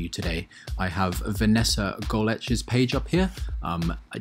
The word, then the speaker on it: Golec: this athlete to you today i have vanessa goletch's page up here um i did double check with her about the pronunciation she was even kind enough to send